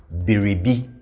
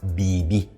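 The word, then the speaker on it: biribi: We have Beribi. Beribi. Beribi. Beribi. And again, in natural speech, we will mostly say this as Bebi.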